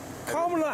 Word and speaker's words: Kamala: Kamala Harris.